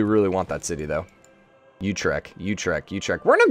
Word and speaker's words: Utrecht: apparently a university there let's look at the pronunciation Utrecht Utrecht Utrecht Utrecht Utrecht okay alright alright we